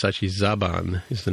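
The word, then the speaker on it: Zhaban: I had originally pronounced it correctly in the show, but then we started calling it Zahan, but it's actually Zaban is the name of the male character, the male Romulan from Northern Romulan.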